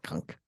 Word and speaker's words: Cunk: It's pronounced cunt, I believe. No, Cunk.